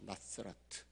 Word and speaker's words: 나사렛: 그런데 오늘날 우리가 나사렛이라는 그 이름을 우리는 그냥 나사렛 그러지만 현지에서는 어떻게 발음을 하느냐면 나스라트예요. 나스라트.